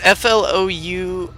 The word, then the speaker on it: Flousop: call it flu soup it's f-l-o-u-s-o-p so i know that's not how you're supposed to pronounce it but it's like flousop or something but as soon as